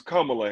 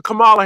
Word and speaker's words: Kamala: What bothers me is her name is Kamala Harris. Stop. I'm not No. Y'all call Trump orange man. I'm calling her Camala Harris.